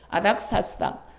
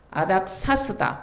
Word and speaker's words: 아닥사스다: 이때 아닥사스닥 아닥사스다 발음이 좀 어렵습니다.